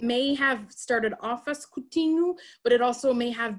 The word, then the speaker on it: Coutinho: you pronounce my name coutinho is actually how i would say it and coutinho is actually a diminutive